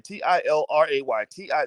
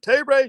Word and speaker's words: Tilray: started talking about children t-i-l-r-a-y-t-i somebody type in the chat because somebody's always like well how do you spell it is it tay ray toray toray t-ray it's tilray t-i-l-r-a-y that's one can of